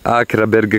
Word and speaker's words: Akraberg: Akraberg, giusto? Sì, con la K. Grazie. Devi pronunciarla, la K. Ecco voi il faro di Akraberg con la K.